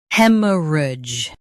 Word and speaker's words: hemorrhage: Stress hem and keep soft. Rudge is smooth. He, m, rudge, hemorrhage.